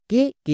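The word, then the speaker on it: cake: কোয়ে একার হয়ে গেল সি এ কে নেক্সট কে কে এর জন্য কো এবং শেষের ই সাইলেন্ট তাহলে কি হলো সি এ কে ই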